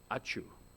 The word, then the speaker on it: ačiū: Ačiū. Like when you sneeze, ačiū, ačiū. That's kind of a joke for Lithuanians when they come into an English-speaking country. Ačiū, that's thank you in Lithuanian.